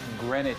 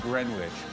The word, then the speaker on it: Greenwich: It's Greenwich Village. What did I say? Greenwich? You said Greenwich. But oh, yeah. Well, it's spelled like...